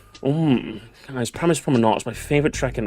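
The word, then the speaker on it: Paris Promenade: Guys, guys, I'm English and it's actually it's Prominard. Oh, guys, guys. My name is and I do believe it's pronounced Paris Prominard guys. Paris Prominard is my favorite track in the game.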